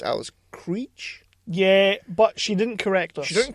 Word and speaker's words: Krige: see her I was I was well it's Al's criid we pronounced the name as and we really we later found out it was called Al she was pronounced Alice Cree yeah but she didn't correct us she didn't